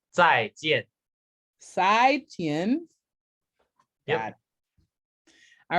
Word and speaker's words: 再见: Would you pronounce it for me, Peter? So I'm saying the right inflections. It's 再见. Sai Tien.